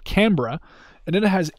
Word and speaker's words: Canberra: And then last but not least, I don't think you pronounce this Canberra. I think you pronounce it Canberra.